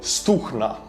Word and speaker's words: Stugna: this is stugna well ukrainians pronounced their G's as so stukna Stunna is a Ukrainian